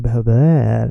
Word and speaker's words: behöver: It's not behöver or behöver. No, it's behöver.